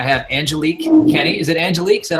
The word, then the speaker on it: Angelique: Is it Angelique? Is that how I pronounce it right?